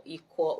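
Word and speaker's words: Iquo: Please search for Ikwo Okon. Ikwo is spelled I-Q-U-O.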